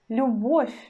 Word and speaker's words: любовь: In the word любовь, любовь, любовь, we already don't pronounce vowel sound U. We pronounce just U, and our consonant becomes soft.